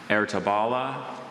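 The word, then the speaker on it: Ertebølle: Ertabala, Ertabala, Ertabula. Wait, just repeat all the pronunciations one more time.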